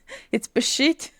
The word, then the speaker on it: пищить: The same with pishit. It's pishit. I know it's pronunciation is just completely off here.